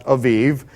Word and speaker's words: Aviv: In Hebrew, it would be pronounced Aviv.